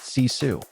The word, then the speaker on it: CISA: The cyber security and infrastructure security agency or CSA pronounced CESU has secured full access to Anthropic's mythos preview model under a program called Project Glasswing.